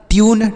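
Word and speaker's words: tune: एन ई से नो तो ये हो गया ट्यून टी यू एन ई ट्यून एम यू टी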